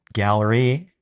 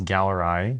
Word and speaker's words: Galleri: You know, I've been mispronouncing it as Galleri. I just don't know why. I think that sounds fancier. Galleri. You say potato, I say Simple blood potato. test. Yeah. Galleri, but it's spelled like Galleri.